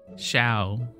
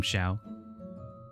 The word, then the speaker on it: Xiao: earlier that you're like people are pronouncing with a j sound i don't know where that jace how do you why did you get the j sound from xiao uh i don't know